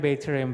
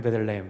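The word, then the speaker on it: בית לחם: 예, 그게 사실은 베이트레헴, 베이트레헴, 베들레헴. 이게 빨리 발음해서 그렇지.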